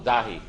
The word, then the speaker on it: Dahi: So we're just missing, hang on, emphasis on the first syllable, Dahi, right?